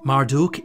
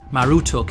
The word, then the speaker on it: Marduk: Marduk is the name commonly associated with the deity in modern times. However, it was actually pronounced Marutuk in Babylonian.